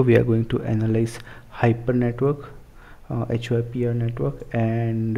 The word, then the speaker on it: HYPR: are going to analyze hyper network uh hyp Network and uh I hope I'm pronouncing it correctly uh I think it sounds like hyper network but some people might call it HPR Network so let's see what